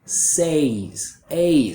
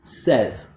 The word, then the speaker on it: says: A lot of students will pronounce it the way they see it and read it like says, kind of using the A like say diphthong. But a native speaker uses the E like bed vowel, so it should sound like this, says.